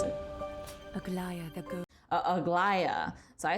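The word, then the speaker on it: Aglaea: Let me actually see how they pronounce it. Aglaya the ghost.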